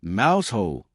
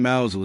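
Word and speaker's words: Mousehole: As one local posted, winter in Mousel is either magical or terrifying, depending on whether the one shop is open. Also, it's not pronounced mouse hole. Stop saying mouse hole.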